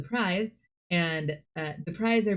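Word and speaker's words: Prise: have the prize which I have been calling the priests but through recent discovery realize that I'm pronouncing it wrong and they are called the prize and uh the prize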